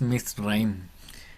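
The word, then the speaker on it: מצרים: Mire, Mitzraim. claro, ahí no se pronuncia el Shebas. Ah, Mitzraim. Mitzraim. Mitzra, Mitzraim. Egipto, suena como Mitzraim. Sí, es Mitzraim.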